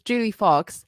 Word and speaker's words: Joulie Fox: How are you preferring your name to be pronounced, by the way? Yeah, it's Joulie Fox.